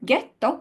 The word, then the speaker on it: ghetto: of the letter and it's a letter that in Italian is completely silent it does not get any sound but if we insert it between the G or the chi and the following dangerous bble sound we get a reverse effect so in gelato there's no AKA so gelato gets the fo it follows the rule but in the word ghetto which is actually a